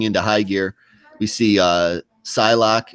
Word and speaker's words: Psylocke: Is that how you say her name? Or do you say Pooksley? I used to say Pooksley for some reason. When I was a little kid, that's how I would read it, Pooksley.